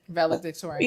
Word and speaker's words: valedictorian: Valedictorian.